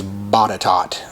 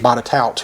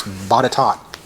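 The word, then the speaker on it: Botetourt: further ado it is bottot and that's bottom virginia and that is suggested by susie herrold i don't know how that r gets so silent and even then you'd think it'd be bada taut but it's bodytalk here's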